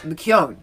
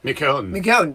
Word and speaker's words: McKeown: It's spelled, McKeown, MCKWEON, and he likes people to say it McKeown. McKeown. The proper way, the Irish way. So Kevin McKeown.